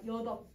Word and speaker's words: 여덟: 그래서 여러분 우리 숫자 요것도 잘못 발음하는 친구들이 있어. 여덟. 여덟이 아니라 여덟. 이렇게 발음을 해야 돼. 여덟 아니야 얘들아.